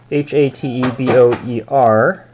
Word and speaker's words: Hateboer: Hans Hatber. How you pronounce that? There we go. Hateboer.